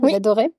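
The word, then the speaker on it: J'adorey: présenter donc ta marque j'adoris merci à toi est-ce que je le prononce bien déjà j'adoré c'est ça ok est-ce que tu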